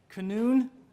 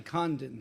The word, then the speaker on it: Condon: up is mr canoon c-o-n-o-o-n that's how it's spelt that's my handwriting is very bad i apologize my name is condon c-o-n d-o-n and i am the